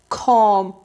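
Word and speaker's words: comb: silent समझ आ गई बी अगर एम के बाद आ जाए और बी पर वर्ड खत्म हो जाए तो बी साइलेंट हो जाएगा देखि जी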